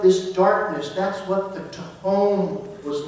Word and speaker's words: tehom: And in the Hebrew language, the word that is translated here is the word tehom. Transliterated from Hebrew to English, it's spelled T-E-H-O-M, tehom.